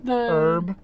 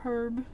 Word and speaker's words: herb: uh like black panther herb yeah the the hard the heart shape herb I hate it when people emphasize the H sound it's an herb it's